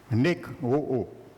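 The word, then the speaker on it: νεκρόω: Nekro. Nekro. Il se prononce nekro.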